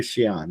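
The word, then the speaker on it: Xi'an: a ministry trip in trying to go to Cheyenne it's spelled x i am but they're in town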